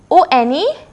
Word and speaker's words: one: Likewise, O-N-E, how do we pronounce it? One, right? That means, what is the first sound that is coming? Wa. Wa. That comes in what? That comes in consonant.